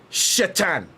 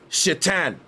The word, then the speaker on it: Shaitan: But it's Shaitan. Shaitan. It later becomes Satan. But it's literally a silent A after the H, and it's pronounced Shaitan.